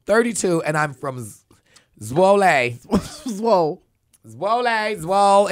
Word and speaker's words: Zwolle: Zwolle. It's giving like swole. It's giving swole.